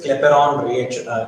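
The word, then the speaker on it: Clapeyron: क्लेपेरॉन, Y silent है, यह है क्लेसियस क्लेपेरॉन।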